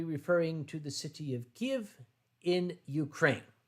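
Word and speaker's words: Kyiv: bit of white kiev americans have been saying kiev for many years that's the russian pronunciation so henceforth i will be referring to the city of give in ukraine not kiev in the ukraine yeah getting us now back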